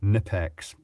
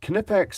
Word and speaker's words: Knipex: They should just let people pronounce it as it is in their country. Knipex, like knife. But Knipex if they wish.